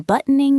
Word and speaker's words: buttoning: I am buttoning my shirt. That is a little tricky to pronounce. Buttoning. The T is often swallowed in rapid speech.